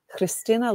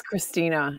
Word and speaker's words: Chrystyna: Chrystyna. But whoops. Oh, there we go. It's Chrystyna. Everybody can just say Chrystyna.